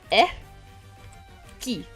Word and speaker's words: Ecci: type it out phonetically because phonetically it's e key uh uh it's like it's like you saw a key but you don't really care. It's like key.